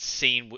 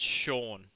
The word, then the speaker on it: Sean: Sorry, I just wanted you to say that again because you said scene. It's Sean.